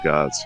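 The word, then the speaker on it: Gard: জি এ আর ডি ইংলিশে উচ্চারণ হয় কিন্তু ফরাসি ভাষায় শেষের এই এর পরে ভাওয়েল এর পরে আর ডি উচ্চারণ হয় না আমরা বলি গা তো দেপারতম বা এটাকে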